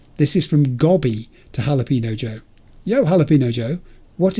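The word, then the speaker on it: jalapeño: It's Jalapino. Not Jalapelino for sake. Not that hard.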